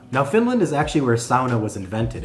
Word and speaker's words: sauna: And if it sounds like I'm saying it weird, if you're used to hearing it sauna, I used to say sauna, and that's what most people still say. And if you want to say it that way, say it however you want.